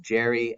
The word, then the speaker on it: Gerry: So even though the name is Elbridge Gerry, it soon became known as, or pronounced Gerry, as in gerrymander.